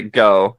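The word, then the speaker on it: Gough: mean to laugh I just wasn't expecting that pronunciation yeah say go you can say go gotcha of course we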